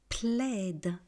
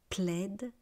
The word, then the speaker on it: plaid: plaide un plaide des plaide plaide un plaide ded Alors pourquoi je prononce la dernière consonne tout simplement parce que c'est un mot d'origine étrangère bois un bois des bois bois un bois bois.